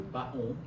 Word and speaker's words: paon: Alors que le paon, c'est l'animal qui. Paon. Mais ça se prononce pan.